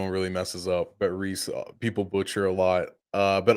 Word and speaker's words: Reiss: You nailed my name, Reiss. That's how you pronounce the last name. no one really messes up, but Reiss, people butcher a lot.